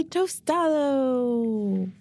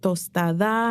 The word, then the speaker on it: Tostado: They're like, is it tostada? And I'm like, no, it's tostado with an O. There's a difference.